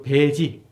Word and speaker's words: 패지: 사대부 집에서 가사, 집을 팔 적에 써주는 폐지라 쓰고 읽기는 배지라고 읽기도 하고 가끔씩 이제 폐자가 나옵니다. 이건 배자 이렇게 읽어주기도 하는데 그래서 오늘날로 치면은 매매 위임장, 권리 위임장쯤 되겠어요, 그죠?